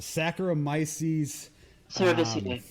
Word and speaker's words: Saccharomyces cerevisiae: the same strain, and it's how do you pronounce it? Saccharomyces Cerevisiae.